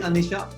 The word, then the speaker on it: Aniesha: So basically, Aniesha, I'm sure I'm pronouncing it right?